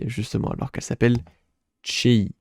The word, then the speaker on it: Chei: justement, alors qu'elle s'appelle Chei. J'ai regardé du coup les hangul et ça se prononce Chei, non pas Chewai, parce qu'en fait le Y est majuscule, je pensais que ça se prononçait Chewai.